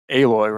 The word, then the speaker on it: Aloy: I'm not going to complain about Aloy, right? That's how you say it? Yeah, Aloy.